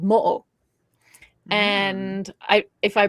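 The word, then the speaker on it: Moʻo: there is a shape-shifting water dragon uh, called Mo. And I if I pronounced that wrong, I'm sorry.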